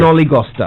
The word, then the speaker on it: snollygoster: Snollygoster.